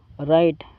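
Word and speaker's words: write: राइट। राइट का मतलब होता है लिखना। दोस्तों इसमें डब्ल्यू साइलेंट है। जब आर से पहले डब्ल्यू आता है तो डब्ल्यू साइलेंट होता है।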